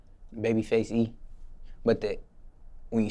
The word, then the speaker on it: Babyfxce E: Now, what is the correct way to pronounce your stage name? Babyfxce E.